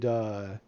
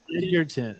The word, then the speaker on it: Egerton: He played Etherton. Yeah. Edgar. Egerton.